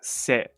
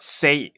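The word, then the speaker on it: せ: So how do you write se? It's pronounced se, by the way. It's not say. It's se.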